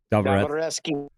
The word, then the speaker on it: Dostoevsky: Dostoevsky. Yeah, that's how it's pronounced.